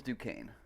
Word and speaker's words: Duquesne: to say this real quick okay it is Duquesne at least as far as I could find and that was uh I looked up vlogging through history because I remember him saying something about Fort Duquesne in the video where he reacted to oversimplified's